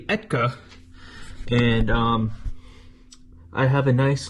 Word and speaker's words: ETKA: I said Iaka. It's actually Etka.